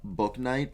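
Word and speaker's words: Bouknight: the sacramento kings giraffe book night i just found out that's how you say it's not bow night james book knight from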